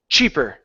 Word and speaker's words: cheaper: this sh she okay the CH is up here starts with your tongue at the top of the mouth and it's ch cheap cheaper Che okay try that cheaper cheaper uhuh so a puff of sound chi chi try that Chi Che good cheaper cheaper there you go good that's the CH sound okay let's put it